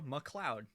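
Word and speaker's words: MacLeod: yeah there you go mccloud mcleod i've been saying it wrong my whole life yeah it's it's like scottish i think oh but why is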